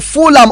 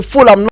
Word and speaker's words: Fulham: Fulham is said as a Fulham, not a Fulham. Of course, it's been spelled as Fulham, but that H is silent.